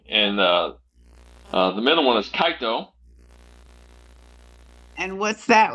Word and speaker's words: Kaito: Okay, K-A, like K-A-I-T-O, Kaito. Kaito. Okay. Yeah, Kaito. Like a kite and a toe.